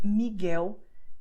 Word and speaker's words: Miguel: It sounds very strange, but the fact is that you're going to pronounce a consonant as if it were a vowel, which is why you say Miguel Thelma.